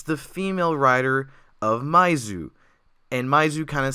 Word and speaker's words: My-th: First of all, I was wrong with the pronunciation of the name in Japanese. It's actually Maizu.